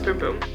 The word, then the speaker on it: Bum Bum: I know it's not Bum Bum. I'm pretty sure it's Boom Boom.